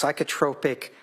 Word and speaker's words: psychotropic: It's pronounced psychotropic. And sorry? Oh, okay. It's psychotropic medication is medication that is prescribed to help treat symptoms of mental or emotional disorder.